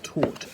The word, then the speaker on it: tort: When I first heard tort, I thought it was the past tense of teach, but it's pronounced almost the same.